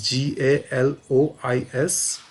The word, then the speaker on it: Galois: The spelling is Galois.